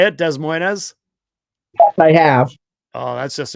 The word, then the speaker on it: Des Moines: Much like a city in Iowa, people mispronounce it as Des Moines. You've actually heard people say it, Des Moines?